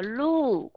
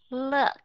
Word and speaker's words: look: âm gì Ok và khi mà chúng ta nói cái chữ này mà chúng ta đọc là look look là chúng ta đang đọc sai âm cái âm này nó là look look chứ không phải là look các bạn nghe được sự khác biệt không look look thì